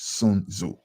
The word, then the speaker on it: Sun Tzu: People pronounce it all type of different ways. The actual pronunciation is Sun Tzu.